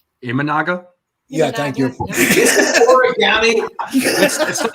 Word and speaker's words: Imanaga: Yamamoto is it aagama or origami however you pronounce his name imanaga yeah thank you orami it's not it's not Umaga guys it's s budy oh my God origami